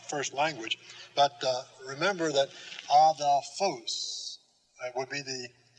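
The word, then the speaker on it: ἀδελφός: So we will put the accent then on the right syllable, adelphos. See? Now that isn't adelphos, it isn't adelphos, but adelphos. Accent on this, and the accent will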